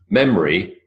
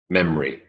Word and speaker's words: memory: it's comfortable three syllables memory to memory there's a no it vanishes its elided away memory temperature temperature three